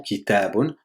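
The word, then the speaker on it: كتاب: Donc on revient à notre mot kitabun. Donc on a dit qu'il va se prononcer sur 300. On a d'abord ki, après ta, après bonne, ça fait kitabun.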